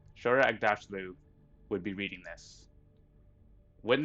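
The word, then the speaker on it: Shohreh Aghdashloo: I'm gonna horribly mispronounce her name. Shora Agdashlu. Shora Agdashlu would be reading this.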